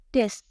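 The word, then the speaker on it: desu: kalian Garis bawahi adalah huruf u yang berada di akhir kalimat besok pada tulisannya memang this tapi dibacanya Des lagi-lagi huruf u ini disamarkan jadi tidak terdengar jelas tapi bukan dihilangkan Ya hanya untuk bagian ini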